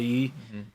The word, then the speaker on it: 鱼: By the way, saying fish in Chinese is very difficult. Yu. Yeah, yu. It's yu, but it's. But the way you pronounce it is, yu. It's in the back of your throat.